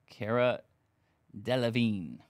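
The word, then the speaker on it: Cara Delevingne: going to be um car deline Cara deine that's going to be numbered one of four Cara deine that's how you say it one of four on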